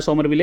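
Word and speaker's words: Somerville: bowling में दोस्तों Saudi, Jameson, Wagner 3 pacer हैं, एजाज और विलियम सोमरविले हैं, समरविले नहीं है ये भैया, स्पेलिंग थोड़े ये मेरे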